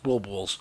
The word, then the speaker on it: boules: Boules. Mandy Petankin. Boule, because you don't pronounce that.